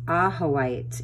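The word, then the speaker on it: Ajoite: It's pronounced Ahoite, is a very high vibrational crystal.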